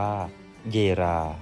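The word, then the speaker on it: Jera: รู ลำดับ ที่ 12 เยะ หรือ ออก เสียง เป็น สำเนียง ไทย ว่า เยรา เป็น รูน ประจำ ตัว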